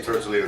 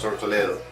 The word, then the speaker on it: Tortoledo: The release of this new project under my name, Tortoledo, well, I say Tortoledo because phonetically speaking in English it sounds more correct, but it's actually pronounced Tortoledo.